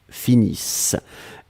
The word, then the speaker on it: finissent: nous finissons vous finissez ils elles finissent iss ent mais on ne les prononce pas donc le nt comme